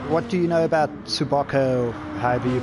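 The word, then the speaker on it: Tsukuba: turn what what what do you know about tsubako however you pronounce the track reaction tsubiako there we go is how you pronounce it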